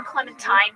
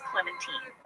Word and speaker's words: Clementine: Yes, we called her Clementine Paddleford, but we have come to learn that her name is pronounced Clementine.